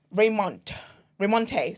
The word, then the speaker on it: Raymonte: Raymonte, sorry. It's like Raymond, but with a T-E.